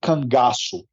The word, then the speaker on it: Korzus: you how to write this because uh you pronounce it Kangas okay okay and and kanasu is uh how